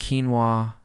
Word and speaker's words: quinoa: This could be quinoa, pronounced quinoa, brown rice, sweet potato, or beans.